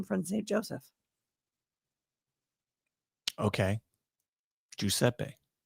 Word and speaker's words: Giuseppe: Giuseppe. That's how we pronounce it in Sicily.